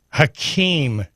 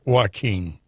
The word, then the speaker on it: Hakeem: It's Hakeem Jeffries, not Joaquin Jeffries. I guess. Hakeem. I've heard it pronounced both ways on major news sources.